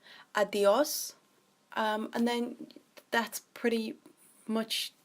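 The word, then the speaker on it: adiós: So adios is quite commonly known already, so it won't be that hard to pick up. Just remember to stress the O, adios, and then that's pretty much everything you need to know.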